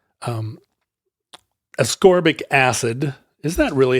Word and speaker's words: ascorbic: you know it comes it's the opposite of scorc things it's ascorbic so maybe ascorbic is right yeah ascorbic here's a dictionary that has it as ascorbic there you go I've been saying it wrong when I say acorbic well so he becomes